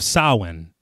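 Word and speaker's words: Samhain: in he says Halloween the Festival of sowin he pronounces it correctly yes yeah I was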